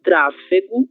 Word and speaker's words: tráfego: E tráfego é um exemplo de palavra proparoxítona, certo?